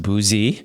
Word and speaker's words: Bouzy: And yes, it is pronounced Bouzy.